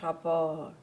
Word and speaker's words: rapport: That's an audience report. How do we pronounce the T? Here it's not pronounced.